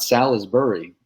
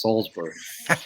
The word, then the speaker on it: Salisbury: how you say it it's not Salisbury it's Salsbury Salisbury sounds better rolls off the tongue easier salb kwaba but so